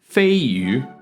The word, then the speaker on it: Feiyu: Now you can see from these guys' pronunciations, Fayutech. Fayutech. Fayutech. Fayutech. it's not actually that much different to the actual Chinese pronunciation, but the Chinese pronunciation, because Chinese is a tonal language, needs to be said Feiyu.